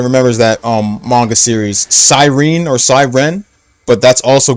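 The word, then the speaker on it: Psyren: But, um, it's originally spelled P S Y P S Y R E N. Sirene.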